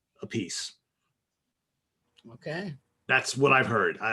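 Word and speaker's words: Appice: said you know what just pronounce it the way it's spelled a piece okay that's what i've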